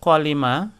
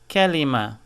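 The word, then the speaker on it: كلمة: So you cannot say kwalima, you say kelima.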